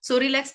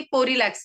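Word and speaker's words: Psorelax: उन्हें लगता है ये पोलेक्स है ये पोलेक्स नहीं है सो रिलक्स यहां पे प साइलेंट है तो ये सो रिलक्स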